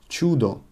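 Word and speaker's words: чудо: means miracle Judo Judo can you hear I'm pronouncing it kind of with you Judo however write it with UL chudo miracle Roshan wrong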